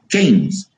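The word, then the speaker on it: Keynes: bienestar en su origen es John miners Ke keines keines se escribe kees es se lee joher kees diseña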